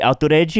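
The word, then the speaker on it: アウトレイジ: It's Outrage, pronounced in Japanese. The way they say it.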